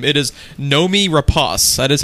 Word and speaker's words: Noomi Rapace: how to correctly pronounce her name it is Nomi Ros I is how you pronounce your name I was way off what